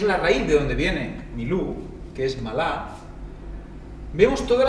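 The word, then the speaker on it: מִלּוּא: en el significado 4394 se pronuncia mi luz también veremos el 4390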